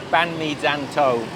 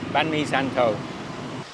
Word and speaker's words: Bánh Mì Dân Tổ: Now I know I'm probably butchering the name Banh Mi Zanto. It's spelled Dan 2, D-A-N-T-O, but basically it means